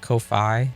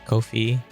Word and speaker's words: Ko-fi: Or I heard somebody pronounce it Ko-fi, which could be, but at the same time, like the whole thing is the buy me a coffee thing. So I thought it would be like Ko-fi, like coffee, but who knows?